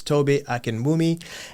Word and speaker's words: Tobi Akinwumi: His name is Toby Akenmi and he works for Ho.